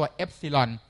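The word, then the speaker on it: epsilon: สัญลักษณ์ ตัว กรีก ครับ อ่าน ว่า ตัว ซิลอน บาง คน ไม่ คุ้น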